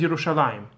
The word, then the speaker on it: Yerushalayim: yud, the pre-last letter, Yerushalayim, right? It's presumed in the pronunciation, but it's spelled as if it's Yerushalem, Jerusalem in English, right? Yerushalem, but it's pronounced as Yerushalayim.